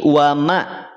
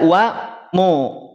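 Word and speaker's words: وما: Mim jangan sampai dibaca O. Tidak wa mallah, tidak wa mallah, tapi wa ma. Wa mallah, wa mallah. Ma pastikan mimnya. Wa mallah, wa malloh. Kelihatan nggak? Wa ma tipis, terhampar dia. Rahangnya terhampar, pangkal lidahnya terhampar, tidak terangkat. Wa ma, tidak wa mo.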